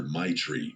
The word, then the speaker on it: Maitreyi: She laughed and told me everyone just calls her Maitri because that's basically how you pronounce it.